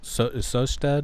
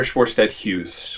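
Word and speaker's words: Sjöstedt-Hughes: Andrew Gallimore and Peter Sosted. Is that how you pronounce it? Peter Schwarstedt Hughes.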